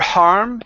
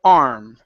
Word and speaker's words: arm: instead of saying her har it's her arm her har nope so here you're saying her har take out the H on arm there is no h at the beginning of this word so it's her a arm